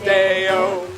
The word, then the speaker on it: DAOS: The word is pronounced Deo.